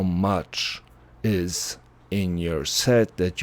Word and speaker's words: mu: We pronounce it mu.